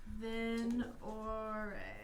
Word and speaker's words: Venorrae: Venore. I can spell it for you if you'd like.